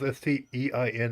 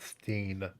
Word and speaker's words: stein: you would pronounce that stein still s t e i n at the stein not steen i hate that they'll pronounce einstein correct and then you show them that they go stain so it's einstein okay